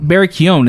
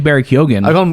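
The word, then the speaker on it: Barry Keoghan: speaking also the the pronunciation thing barry keon barry keown is the pronunciation of the name right we've been calling him barry kyogen i'll call him barry bees berry b yeah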